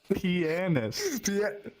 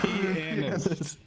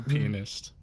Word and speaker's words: pianist: You have to pronounce the A more in that word. Yeah. Pianist. There you go. Pianist. All right. My grandma was a pianist.